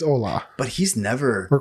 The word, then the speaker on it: Ola: I was calling him Ole until you corrected it. It's Ola.